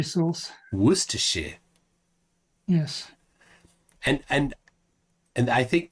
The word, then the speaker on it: Worcestershire: nerd says Tony say Worchester Shire sauce correctly Worcestershire sauce Worcestershire yes and and I think the other day